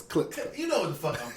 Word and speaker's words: Klitschko: With a K, yeah. Glitchko. Don't Yeah. let me pronounce it the wrong way. and No, shit. it's not Glitzko. It's Klitschko.